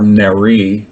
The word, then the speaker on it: Neri: Neri Oxman, or Neri, I believe it is in the Israeli or Hebraic pronunciation.